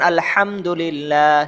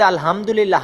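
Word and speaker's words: الحمد لله: শুদ্ধতাটা খুব জরুরি আল্লাহ এরপরে এইযে যে হার উচ্চারণ বললাম হাটা অনেক জরুরি। যেমন আলহামদুলিল্লাহ সমস্ত প্রশংসা আল্লাহ তাআালার জন্য। আর কেউ যদি আলহামদুলিল্লাহ হা পড়ে তাহলে অর্থ পরিবর্তন হয়ে যায়।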